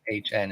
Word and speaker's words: Maton: That's how Maton. Maytahn is the pronunciation guide.